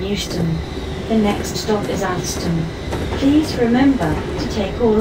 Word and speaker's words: Atherstone: This train is for London Euston, calling at Atherstone, Nuneaton, Rugby, Northampton, Milton Keynes Central, Waterford Junction and London Euston. The next stop is Atherstone.